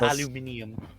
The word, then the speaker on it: aluminium: ground wait you say aluminum yeah that's what that's what you usually use to make I find the proun the British pronounce it aluminium aluminium aluminium aluminium well that's because